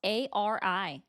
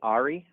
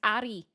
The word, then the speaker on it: Ari: It's spelled A-R-I. I'd say Ari. Incorrect. It's Ari. There's a reason why I roll my R's because it's how my name is. It's Ari.